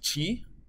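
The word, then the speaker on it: 气: character for air and it pronounced like Chi and yes it's the same Chi as you have heard about so it also means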